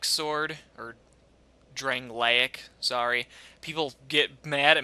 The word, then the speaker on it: Drangleic: dual wielding build this along with um the drain gallic sword or Drangleic sorry people get mad at me for mispronouncing it now um yeah these two swords